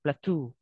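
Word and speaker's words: plateau: so next plato okay that's that's how you pronounce it plato okay plato is a high elevated ground that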